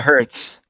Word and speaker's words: HZ: What is that? Pronounced the Hertz. Oh, the Hertz.